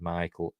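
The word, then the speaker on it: Michiel: Fisher Coleman uh M Mikel as it just pronounced Michael I'll say Michael Michael hman jimon hu uh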